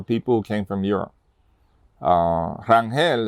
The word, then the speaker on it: Rangel: Rangel is actually German, and that's how you pronounce it, Rangel. Pero we say Rangel in Puerto Rico is, for a different pronunciation.